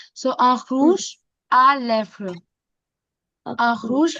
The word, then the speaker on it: rouge à lèvres: र का साउंड ख ऐसे आता है. So un rouge à lèvres.